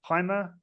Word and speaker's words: Pima: But it's a graph where you've got Western population versus is it Pima Indian? Is that how you say it? Pima.